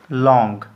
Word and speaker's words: long: तो इसका क्या लिख देंगे इट्स लाइफ इज लॉन्ग। ऐसे जी का उच्चारण नहीं करते हैं, लॉन्ग, लॉन्ग ऐसे नहीं पढ़ा जाता है इंग्लिश में।